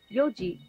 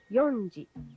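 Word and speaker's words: 四時: 2 3 is sanji notice the pronunciation change using yoji instead of yonji five is goji goji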